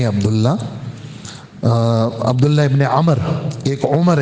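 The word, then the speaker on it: عمرو: नहीं जाता ऐसे ही अमर का लफ्ज के अंदर यह वाव साइलेंट है इसको पढ़ा नहीं जाता लेकिन वाव की वजह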